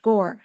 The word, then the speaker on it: Gaur: And by the way, his last name, Gaur, is more like Om, right? OM. So it's actually in Indian pronounced Gore.